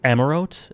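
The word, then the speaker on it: Amaurot: thy coming was expected the t is pronounced amarot amarot one or two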